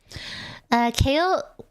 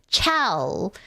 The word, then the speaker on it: Chaol: But I got told that apparently Chaol is pronounced kale, like the vegetable kale.